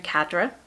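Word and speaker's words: cadre: Group therapy is recruitment for a revolutionary cadra. Cad English or American, this is to be pronounced cadra. Cadra.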